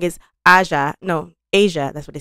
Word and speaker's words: Aja: Oh, and I said the name wrong is Asia.